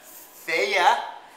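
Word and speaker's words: Fage: okay we got the feya feya yogurt that's how you say it okay doesn't look like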